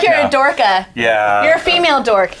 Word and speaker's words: Dorcha: And no, Dorcha is not the correct Gaelic pronunciation. My mother has been able to tell me what the correct Gaelic pronunciation. I pitched that to Brian. He said no. So what's the correct? I have a hard time with it. It's Dorcha? Yeah, Dorka. Dorka. Yeah. So like sounds like dorky, so that's why